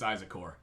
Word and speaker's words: Isakor: you it's Isakor. Did I say it right or did I say it wrong? I wrote it down. It's Apparently- Isakor. I'm saying it Isakor. wrong. It's Isakor. I-Z-A-K-O-R.